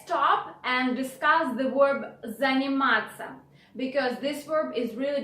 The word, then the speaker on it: заниматься: And moreover, instead of ся, which is the proper way to spell the verb, in spoken language you change ся into ца.